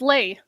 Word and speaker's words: lei: Oh, it's lei. Lei, I would never have guessed that. Yeah, you it would have taken me a million years and I would not have guessed that's how it's pronounced.